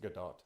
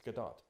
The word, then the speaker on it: Gadot: avoided all of this it's pronounced good dog okay so what did she know I don't think it's heart it's a heart T no it seriously it is it's Israeli it's good dog hmm it's not French